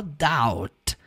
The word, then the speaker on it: doubt: Não é doubt, não tem aquele B na pronúncia, você vai falar só doubt.